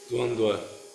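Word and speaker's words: dvandva: Dwand that V is messes with me. It's pronounced as a W.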